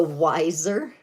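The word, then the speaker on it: Weiser: It's called the Wiser, but it's spelled W-E-I-S-E-R.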